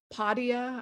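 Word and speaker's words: Podia: skillshare um there's a really good platform called padia i think i'm pronouncing that right p-o-d-i-a and gosh there have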